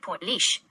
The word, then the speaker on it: Portlaoise: I have noted that Port Louise is pronounced like Portlaoise.